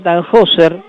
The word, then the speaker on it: Tannhäuser: libro se llama caballero tannhäuser en realidad se pronuncia tannhäuser porque es alemán y es un homenaje